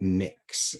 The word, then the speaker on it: Mx: We've also got Mix as well, which is mx I think I'm pronouncing it correctly. I think I would say mix But other people may choose to pronounce it in a different way.